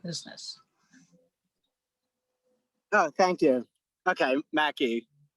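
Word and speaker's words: Mackay: And Adam, I think the family pronounced it Mackey Estate.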